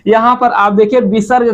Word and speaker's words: विसर्ग: होता है अब देखिए विसर्ग में आप देखिए विसर्ग का उच्चारण किसके तरह होता है ह की तरह होता